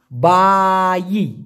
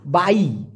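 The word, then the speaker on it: bayi: উচ্চারণটা হবে বাই অথবা বা অন্ত্যেষ্টিয়া রস্যই, বাই।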